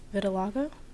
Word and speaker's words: vitiligo: And with vitiligo, I've seen that a Yeah, lot, like, yeah. recently. How is it pronounced? Vitiligo?